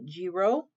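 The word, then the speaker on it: griot: of oral history with the g row it's spelt g g-r-i-o-t it's on page 128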